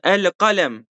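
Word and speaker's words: القلم: Hani eee elkalem değil mi? Elkalem. Bunu kalem demiyoruz.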